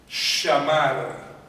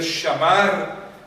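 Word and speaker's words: שמר: Shamar es la palabra. Shamar, así mismo se escribe en castellano. S-H-A-M-A-R. Shamar.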